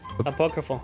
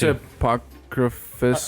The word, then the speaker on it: apócrifo: Apócrifo, yeah. Ap- Los libros apócrifos. Apocrypho? Apócrifo. I think it's apocryphus. or something. Apocryphy?